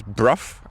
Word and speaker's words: Brough: The two castles that we're going to see is Bruff, I believe that's how you pronounce it, not broke.